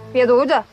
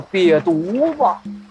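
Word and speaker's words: 瘪犊子: 瘪犊子。发音不对，叫瘪犊子。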